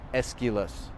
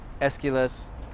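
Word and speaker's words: Aeschylus: is a playwright okay and you can spell it a e or just e and then the k is ch so a e s c h i l o s esquilas okay esquiles uh sophocles and let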